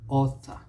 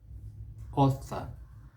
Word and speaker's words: author: you'll see the differences the first syllables the americans will tend towards or author the americans it's uh and they'll bring out that r in fact that is